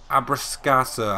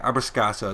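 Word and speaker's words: Abbruscato: Elvis Abrascato, I think is how you say it. Abrascato is what I'm going to go with.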